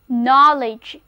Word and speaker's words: knowledge: 就是 unknown。很显然，unknown 就是不知道。好了，从不知道到知道。我们需要知识武装我们的头脑，所以知识就是在 know 后面加上名词后缀 l-e-d-g-e knowledge，发音变了，字母组合 o-w 发 o 的音。 read after me，跟我读，就是 knowledge，知识。他以在地理方面的广博知识而闻名，就是He is well known for his knowledge in geography.